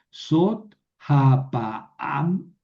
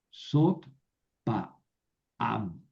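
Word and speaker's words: זאת הפעם: Entonces, sot pa am, perdón, sot ha pa am, sot ha pa am.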